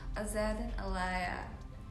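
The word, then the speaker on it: Azzedine Alaïa: अलग अलग fashion designers के नाम का करेक्ट प्रोनाउंसिएशन हमें समझा सके। Okay, Azzedine Alaia. No, Azzedine Alaia. Azzedine Alaia? No. Azzedine Alaia. Azzedine Alaia.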